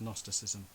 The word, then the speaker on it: gnosticism: become known as gnosticism but it's spelt with a silent g so if you're reading it and you've never heard it said it's gnosticism but it's just gnosticism um and uh gnostic is the greek word for knowledge see they have a silent g we have a silent k all language is messed